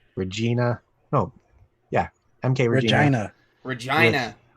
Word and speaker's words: Regina: Regina. Like yeah. Saskatchewan. With the Theatro on top. Rhymes with fun.